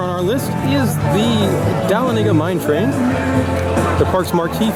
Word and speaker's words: Dahlonega: How do you pronounce this ride? Dahlonega. Dahlonega.